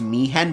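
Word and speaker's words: Mi'ihen: two-pager so for me I like how it's me hen but it's spelled like me ihen so for Meehan we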